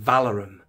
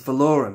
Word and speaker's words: Valorum: Chancellor vorm although who allowed Tim Curry to pronounce it valorum in the Clone Wars what was happening day filon how did you let that happen it's not valorum it's vorum although one might argue that pronunciation is up